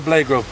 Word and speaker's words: Blagrove: Say your name first and spell it, so they've got your name. My name's Ishmahil Blagrove, B-L-A-G-R-O-V-E.